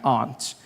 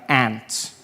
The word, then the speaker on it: aunt: For instance, I pronounce the opposite of uncle as aunt. I say my aunt. Out here you say my ant. Which to me is an insect.